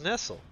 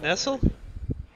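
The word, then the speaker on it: Nestlé: not LED isn't it I thought it was Nestle Nestle if you're in like France I hate it I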